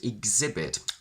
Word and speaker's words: exhibit: all in the word exhibit i want you to see it actually as spelled as e x i b i t where we keep the stress on the second syllable so we say g